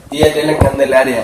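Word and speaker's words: Día de la Candelaria: Dia de la Candelaria.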